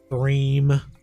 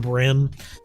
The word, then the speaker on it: bream: Uh but specifically with like southern states, they refer to a lot of the sunfish species as like brim bream. Brim. They can't pronounce the ea sound evidently, so they just call him brim.